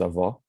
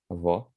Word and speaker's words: avó: The ending, avô for grandfather, avó for grandmother.